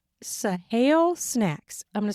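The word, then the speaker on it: Saale: the best topper for this at Walmart it's sah snacks I'm going to spell it for you s a a l e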